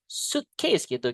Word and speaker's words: suitcase: Jadi i-nya nggak dibaca. We cannot say suitcase. Suitcase gitu guys.